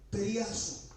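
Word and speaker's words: πειρασμός: de Pedro 4:12 viene el vocablo griego y se pronuncia peraso y uno porque tiene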